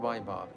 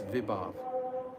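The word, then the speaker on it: vibhāva: so many years ago, I mispronounce this word Vibhav every single time. I say Vaibhav. It's not Vaibhav, it's Vibhav. I've just, for some reason or other, I mispronounced it the whole way through. It's Vibhav.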